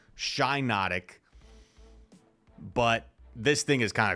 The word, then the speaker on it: Shiinotic: obvious pronunciation Pokemon ever it's obviously shy notic but this thing is